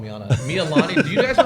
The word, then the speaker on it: Mililani: Mililani. Do you guys know how to pronounce it? Oh, Mililani? Mililani.